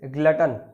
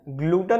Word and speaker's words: glutton: First vocabulary is ग्लटन। पहला word है ग्लटन। Pronunciation ग्लूटन नहीं, ग्लटन है।